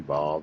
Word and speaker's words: vav: Some people say wav, some people say vav. It's nothing to fight over. And it's just, but that's how they pronounce it in the paleo, as a ooh sound.